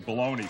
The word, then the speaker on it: bologna: Baloney. Baloney! Also, I wanted to prove I could spell it.